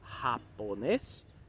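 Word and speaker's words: japonés: Como é que a gente fala a nacionalidade com o som do J, J, R seco, tá? Então vai falar japonês e feminino japonesa.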